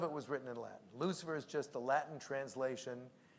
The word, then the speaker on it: Lucifer: So, but it's not Lucifer, it's pronounced Lucifer in Latin.